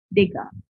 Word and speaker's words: Degas: You pronounce it as Degas.